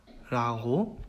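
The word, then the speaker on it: Quiz: 그래서 예시에 나온 단어를 보면은 크비츠 이렇게 발음을 해요. 그래서 생긴 거는 이제 영어의 퀴즈랑 똑같이 생겼죠. 뜻도 똑같이 퀴즈인데 독일어에서 발음을 할 때는 크비츠라고 얘기를 합니다.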